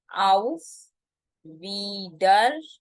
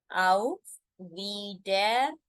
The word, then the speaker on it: Auf Wiedersehen: See you again is called as, you have to break it in 3 parts. Auf Wiedersehen. Auf Wiedersehen. I repeat. Auf Wiedersehen, which makes it as Auf Wiedersehen. You need to speak it fast, or if you're not comfortable, you can speak slow as well.